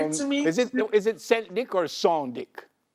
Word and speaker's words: St. Dic: Great to meet Is it Saint Dick or Son Dick? It's Saint. It's scent. But you can say Saint. It's like it's scent.